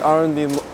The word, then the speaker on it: arrondissement: We're in the 18th arrondissement.